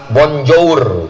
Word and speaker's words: bonjour: bonsoir cara bacanya bonswa Selamat pagi Bonjour cara bacanya Bonjo Selamat pagi Bonjo Selamat sore